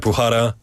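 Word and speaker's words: Bukhara: your name it you don't pronounce the K. It's almost like a Yeah. Like like Bhara and your name is Sioaton.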